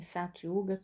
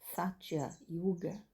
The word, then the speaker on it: Satya Yuga: E quando se recomeça, termina Kali Yuga e volta num novo ciclo em Satya Yuga, tudo é restaurado dessa forma.